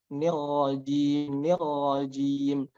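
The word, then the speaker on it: الرجيم: Dan ro juga itu ada sifat yang namanya takrir, yaitu getaran. Jadi huruf ro itu ada getarannya, dan getarannya itu tidak boleh lebih dari 1 kali. Maka yang betul adalah syaitonir rajim. Nah, tidak boleh kita mengucapkannya dengan banyak getaran. Syaitonir nir. Nah, seperti itu tidak boleh. Harus hanya sekali getaran saja.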